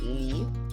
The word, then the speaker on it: lit: Je lis, tu lis, il est long, lit, like a bed. On lit a bed. Anyhow, let me not get you bothered. Je lis, tu lis, il est long, lit.